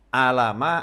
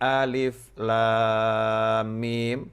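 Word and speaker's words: الم: Maka Allah tidak menyuruh Nabi Muhammad SAW membacanya alama atau alima, tetapi alif lam mim atau alif lam ra di dalam surat Yusuf.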